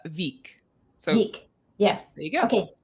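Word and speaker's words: Vík: oh thank you well it's this one is uh veek yes there you go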